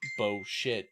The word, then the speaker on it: Bosheth: and made it Bosheth, which is pronounced Bo shit in most cultures.